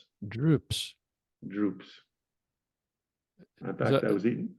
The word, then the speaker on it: drupes: Uh, if I said to you that I was eating some droops, DRUPES, Droops. droops.